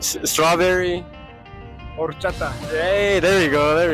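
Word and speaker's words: horchata: Strawberry ora. No, you said it wrong, man. That's That's I I say it like that because that's what my fans call it. All right. Strawberry orchata.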